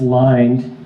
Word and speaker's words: Lynde: so I realized that his name is actually pronounced line and resolving any of